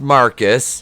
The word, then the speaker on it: Marquis: with ryan who's researching marquise pronounced marcus because we're stupid and